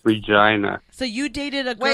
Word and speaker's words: Regina: Yeah, it's pronounced Regina here Regina. for some reason.